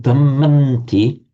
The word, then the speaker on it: dhammanti: You can write it like that, but you pronounce it dhammanti because the would become a n under the influence of the following t.